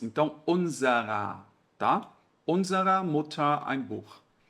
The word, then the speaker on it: unserer: Na hora de pronunciar, esse ER soa como se fosse um A de Alex. Então, unserer, tá?